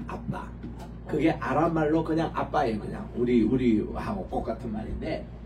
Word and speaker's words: 아빠: 되는데 그거 고쳐야 됩니다 원래이 발음은 원어에서 발음하는 그대로 쓰는게 원칙입니다 아빠 아버지 이러니까 옛날에 우리 번역하신 분들도 아 성경에 이것 또 아빠라 번역하면 좀 어색하니까 그래서 아바 아버지라고 이렇게 있거든요 우리 번역에 그게 아니고 아빠입니다 그냥 아빠 어 이거는